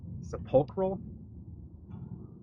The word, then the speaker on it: sepulchral: I believe it's like pronounced with a K, sepulchral. I've also heard it pronounced with a ch to it.